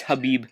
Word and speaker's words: Khabib: It's like Khabib or something. It's Habib.